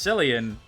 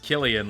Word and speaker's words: Cillian: kuno you mistyped salonicillian pronounced sillian which is ironic because the actual name uh like is pronounced killian like killian murphy because it's like a um i don't know does that say you pronounce it in gaelic irish i don't know vegeta